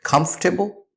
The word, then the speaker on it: comfortable: word we have is how do you say comfortable or comfortable the correct pronunciation is not comfortable or not comfortable